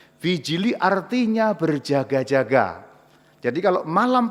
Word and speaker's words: vigili: persis tempat yang benar yang persis benar adalah namanya vijili tulisannya vigili ya v i g i l i dibacanya vijili vijili artinya berjaga-jaga Jadi kalau